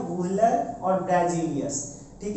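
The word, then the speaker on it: Wöhler: कई बुक में अलग नाम भी हो सकता है लेकिन प्रोनाउंसिएशन यही है, वुहलर और ब्रेजिलियस, ठीक है।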